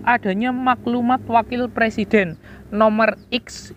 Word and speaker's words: X: Dan ciri yang terakhir yaitu adanya maklumat wakil presiden nomor X, itu bukan nomor 10 ya, bacanya adalah nomor X tanggal 16 Oktober tahun 1945.